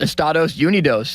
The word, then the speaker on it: Estados Unidos: It's our country is pronounced Estados Unidos in Spanish-speaking countries. Is it? Yeah. Can you say that again, Limits? Estados Unidos.